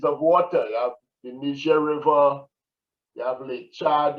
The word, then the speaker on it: Niger: And then there is the Niger, the word is pronounced Niger. It's the Niger River Basin.